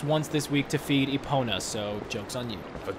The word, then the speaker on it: Epona: It's pronounced Epona, I think you know that.